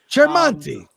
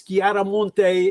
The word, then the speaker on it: Chiaramonte: Cherante. It's It's Garamonte if you were going to be Italian-esque.